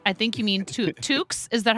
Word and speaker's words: toque: quack says beanies I think you mean to tokes is that how you say it TS yeah in Canada the toque right exactly I got called out as a